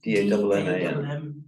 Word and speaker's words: Damman: Well, For instance- my surname was Damman. Dam, D-A-M-M-A-N. D-A-M-M-A-N. How did you pronounce it? Damman. So Because it's the man is a separate word in a sense.